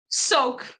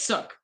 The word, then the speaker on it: souk: Yeah, and it's not soak, it's sook. Sook that rhymes with took, like the cooks.